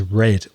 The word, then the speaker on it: read: verb is read r-e-a-d because the pastor read is red although the spelling is exactly the same how confusing is that so read read read